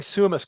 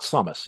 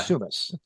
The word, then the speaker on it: Summus: And I'm glad you're saying Summus correctly, because sometimes people say like it rhymes with ground up chickpeas. It's not Summus, it's Yeah, Summus. yes, Summus.